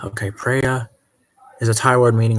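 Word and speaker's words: Phraya: Almost like prayer.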